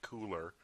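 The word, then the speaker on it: Kuler: be called adobe color spelled with a k-u-l-e-r which doesn't make a lot of sense because i want to say cooler but they've renamed it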